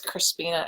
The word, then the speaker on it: Crispina: So my name is Crispina. It's spelled C-R-I-S-P like in Peter, I-N-A. And when people mishear it when I'm being introduced, I often tell them it sounds like a breakfast cereal.